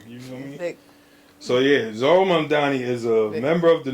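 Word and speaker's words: Zohran Mamdani: It's Zoran Mamdani.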